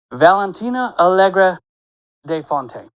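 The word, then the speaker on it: Valentina Allegra de Fontaine: saw as let let me make sure and pronounce her name correctly because she will correct you. Valentina Algra de Fontaine.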